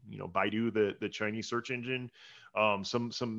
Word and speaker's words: Baidu: I've actually been seeing a lot more traffic from, I think it's pronounced Baidu, Baidu, the Chinese search engine, some more international search engines, things like that.